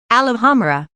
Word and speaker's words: Alhambra: "Alhambra," James whispered encouragingly. Emphasis on the second and fourth syllables.